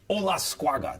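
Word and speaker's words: Olascuaga: The title holder at 112 pounds, Anthony Olasquaga. Did I do it? Did I say it right? Yep, you said it just spot on.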